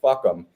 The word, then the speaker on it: FUCAM: That acronym is FUCAM, and it's pronounced fuck 'em."